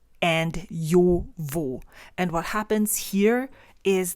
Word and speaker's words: Jowo: And then Jowo, same thing. Jo. And we don't pronounce J like Joshua, Joe. It's yo. It's more like yo, vo.